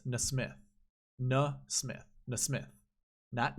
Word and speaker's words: NeSmith: the Golf Channel it's Nesmith no Smith miss myth that Nesmith not Naismith Miss Smith weird name